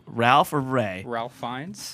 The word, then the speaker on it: Ralph: It's how it's spelled. It's not how it's pronounced. Wait. It's spelled R-A-L-P-F, and it's pronounced Ray.